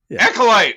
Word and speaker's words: acolyte: spoof all right the I kept screwing this up uh in pronunciation it's the the the the echolite the also light the Accolade acolyte like the first time uh so we got